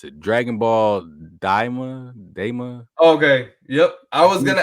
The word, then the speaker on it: Dragon Ball Daima: How do you pronounce it? Dragon Ball Daima.